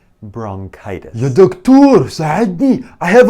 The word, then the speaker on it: bronchitis: Maybe I have bronchitis. لا لا لا. bronchitis. K. ننطق CH مثل K. bronchitis.